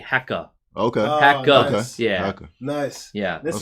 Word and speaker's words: Hacker: Yeah, so that's hacker. All right. Yeah. Well, actually, they don't really pronounce the R. It's actually hecka.